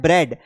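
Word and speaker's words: bread: कुछ शब्दों में ए लिखा होता है लेकिन बोलते समय उसकी ध्वनि नहीं आती है। यहां पर देखिए जैसे लिखा है ब्रेड। अब यहां पर ए लिखा तो है लेकिन इसको हम क्या पढ़ रहे हैं? बी आर ई डी ब्रेड।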